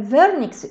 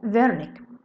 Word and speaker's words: Wernicke: يبقى بسميها فيرنيكس اريا او sensory speech area او sensory speech area of Wernicke. طيب خلي بالك ال W ده عالم الماني، فال W تحتها نقطتين منطقها V.